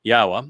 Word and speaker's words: Yahweh: Yahweh, which is the proper pronunciation of the name of God, as directed by his Torah teaching regarding his Haya existence.